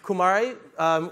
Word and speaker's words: Kumare: need a universe so Kumari is my middle name with a little a sound at the end my middle name is